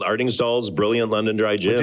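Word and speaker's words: Artingstall: Yeah, pronounce it again. Ardingstall.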